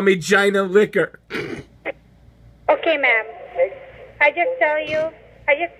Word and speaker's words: Gina: G-I-N-A, Gina. G-I-N-A? Yep. Gina? No, it's pronounced Gina, thank you.